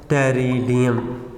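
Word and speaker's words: Pteridium: और इसी फर्न के एक एग्जांपल में बेटे टेरिडियम में लिख देता हूँ, इसमें P साइलेंट है, टेरिडियम।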